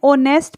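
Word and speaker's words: honest: अ कि अब पैन ऑनेस्ट person same वही चीज है एच साइलेंट है और इसको क्या बोलें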